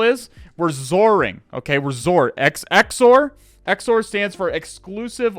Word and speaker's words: XOR: It's pronounced XOR, exclusive OR. Exclusive OR. It is a bitwise operation.